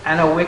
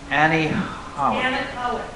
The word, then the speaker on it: anechoic: So you guys read the article on the Anawick. I thought I was going to say it right. I really thought I was going to say it right. Anechoic.